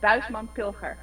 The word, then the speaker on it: Buisman Pilger: Bushman Pilger, or if you want to pronounce it in Dutch, it's Buisman Pilger.